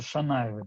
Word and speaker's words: Шанаевы: Некоторые фамилии пишутся через «ш», как они звучат. Например, есть фамилия Шанаевы. Они пишутся через «с» по-осетински, то есть «саната», да. А по-русски пишутся и произносятся Шанаевы. Да, это так, как оно звучит в североиронском в основном.